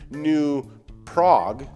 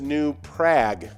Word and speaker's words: New Prague: new prague let's see the common mispronunciation is new prague oh okay so i could be um but the actual pronunciation is new prague so you were kind of hooked oh no just take the ooga off yeah the the that is rhymes with bad so prag yeah uh i should